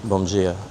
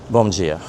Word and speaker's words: bom dia: It's spelled d i a where the d is pronounced as a g. So, it's bom dia.